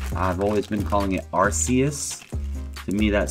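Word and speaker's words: Arceus: alt art AR archus I'm still getting used to calling it archus cuz technically that is is the how it's pronounced I've always been calling it arus to me that sounds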